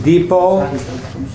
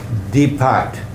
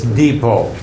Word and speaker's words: Depot: it but it's not de-pot it's Depot so you will see that yeah often with stores there is a chain of stores here called Office Depot so it's pronounced Depot strong o sound o sound but evil